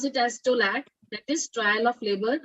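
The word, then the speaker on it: TOLAC: call it was a v-back and t-o-l-a-c we pronounce it as stolat that is trial of labor after cesarean section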